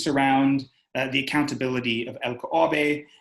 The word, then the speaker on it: LKAB: uh the accountability of el caobe and uh sorry l-k-a-b i flipped into the swedish pronunciation um it questions uh